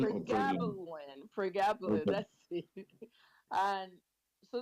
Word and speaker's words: pregabalin: I'm a pharmacist, and it's like, Pregolin. Dr. West, can you hear me? Yes, I can hear you. Oh, you know Is it Pregolin, right? or pregabalin? Pregabalin or Pregabalin.